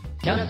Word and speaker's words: tiens: There's a silent S at the end of tiens and you have the nasal un sound. Tiens.